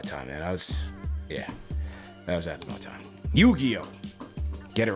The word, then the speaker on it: Yu-Gi-Oh: please correct me I'm old how do you pronounce that you Geo okay okay Yu-Gi-Oh okay okay yes all right Yu-Gi-Oh Yu-Gi-Oh cards